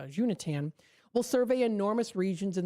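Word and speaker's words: Xuntian: Unit will uh I'm sorry, uh Junatan, that's actually I think the correct pronunciation is uh uh Junatan will survey enormous regions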